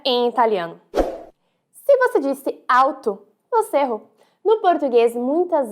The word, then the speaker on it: alto: isso não deve acontecer a letra L tem o som de L então alto em italiano dizemos alto alto veja só como L é bem pronunciado alto você sobe a língua